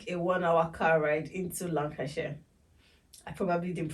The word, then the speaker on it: Lancashire: Airport and took a 1our car ride into Lancashire I probably didn't pronounce that well yeah that's correct Lan lash